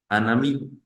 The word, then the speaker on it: un ami: como un amigo yo voy a decir anami anami sí ven el sonido de la n se está uniendo con el de la a y digo anami anami normalmente el uno suena Ah amigo suena a mí cuando los uno entonces digo an amí similar en español cosa